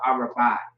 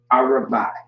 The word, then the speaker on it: Arabai: I guess you could say that the A is silent in a way, so Arabai. All right? Yeah, Arabai. Arabai is how you pronounce that.